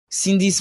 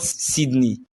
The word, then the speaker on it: Cindy: Mama, I wouldn't allow you call Cindy a witch in my presence. And it's not Sydney, it's Cindy.